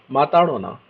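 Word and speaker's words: ಮಾತಾಡೋಣ: Matadona. D is Ridava. So Matadona.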